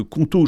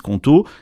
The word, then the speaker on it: Qonto: Justement, c'est là que Conto change la donne, parce qu'ils ont non seulement